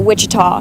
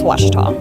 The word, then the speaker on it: Ouachita: for wasita Baptist University back in Texas everybody pronounces it witch but really it's wash wash wash how would you pronounce it wash